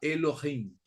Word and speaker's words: Elohim: filo y fin es con h y m No que los antiguos pronunciaban casi como una jota Elohim no Elohim no tenían